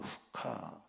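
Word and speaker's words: חק: 여기 율례라고 하는 말은 호크라는, 또 때로는 후카 이렇게 발음되는데요.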